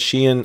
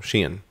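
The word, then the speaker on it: Shein: we have Shen now yes I said Sheen I didn't say Sheen or shine or however else other people are pronouncing it directly from the company it's called Sheen so Sheen remember for that so next up at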